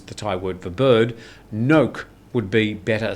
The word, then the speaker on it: nok: So it's a very short nok. Yeah, it's not long. It's not no.